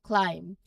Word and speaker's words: climb: Now look at our first example, climb. You can see the B is there in the spelling, but when we say it, we end on the M sound.